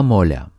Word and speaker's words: моля: In Bulgarian, this please is Това, моля. Това, моля. Let's break it down by syllable.